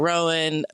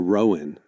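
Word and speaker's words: Roan: You said Chapel Rowan. I've always said Chapel Ran. This is an AMX situation. Am I saying it wrong? It's It's two syllables. Rowan.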